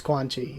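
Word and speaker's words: Quanxi: let's go to 72 at least in Japanese it's quani in Chinese I think the C should be a little bit close like a little softer a little closer to a g but still kind of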